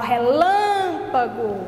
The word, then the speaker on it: relâmpago: Quando as palavras tiverem esses acentos, pode ter certeza que a sílaba é bem mais forte. Quando eu falo relâmpago, eu falo pé, não falo só pé, eu falo pé, vou puxando mais a dicção.